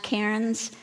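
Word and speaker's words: cairns: human creation called AAR they may be pronounced KS but they are c a i r NS and in Scotland they call them KS although there are numerous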